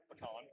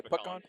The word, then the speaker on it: pecan: Pecan. Pecan. You say peon.